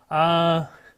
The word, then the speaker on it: Quaoar: Quaoar, and that's spelled Q-U-A-O-A-R.